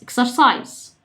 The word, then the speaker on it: exercise: exercise exercise. الاس اللي هنا اتنطقت شبه الزد كده، والاي اللي في الاخر ما اتنطقتش، ما قلناهاش.